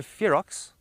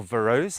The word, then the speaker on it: ferox: So now this is called the Aloe ferox, or Verose. It depends how you want to pronounce it.